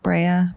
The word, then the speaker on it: Brea: Not Bria. Bria.